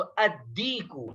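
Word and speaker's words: الديك: शमसी में से है, और जब हरूफ शमसी में से कोई हर्फ अलिफ लाम के बाद आता है तो लाम को साइलेंट पढ़ा जाता है और उस हरूफ शमसी के ऊपर तशदीद लगाकर उसको मुशद्दद करके पढ़ते हैं। तो अद्दीकु, अद्दीक के माने आते हैं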